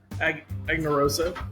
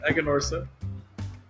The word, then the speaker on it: Aganorsa: it's you're right it's now I do it anarosa it's Egon Ora you just do it